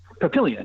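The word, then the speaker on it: Papillion: Obviously, you know, Omaha, they play in the neighboring town actually of a I'm probably going to mispronounce it, but Pilion Pilion comparatively rural not Pilion.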